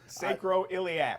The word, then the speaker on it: sacroiliac: We want to talk a little bit about, and I'm never going to get it right, the correct pronunciation for this word is? Do it. Sacroiliac.